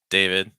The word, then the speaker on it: David: David. You'll hear common enough name in the U.S. A, followed by a short I sound.